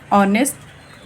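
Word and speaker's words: honest: Arun is अ ऑनेस्ट बॉय. अब बेटा देखिए, ये लिखा तो कॉन्सोनेंट है, लेकिन इसकी प्रोनाउंसिएशन देखिए, ऑनेस्ट, आ रहा है ना, इसलिए हम यहाँ पर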